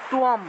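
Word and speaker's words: ত্বম্: তাহলে এই শব্দটার উচ্চারণটা হবে তুয়ম, অনুস্বার থাকায় ম উচ্চারণ, তুয়ম তথা।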